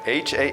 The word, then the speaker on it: hasten: And would you please spell for me, Asaya, the word hasten? Hasten. Hasten. H-A-S-E-N. Hasten. There's a silent T in there. H-A-S-T-E-N.